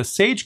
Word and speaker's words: chage: The primary command that we're going to be using in today's video is the chage command. And it's spelled like that, C-H-A-G-E.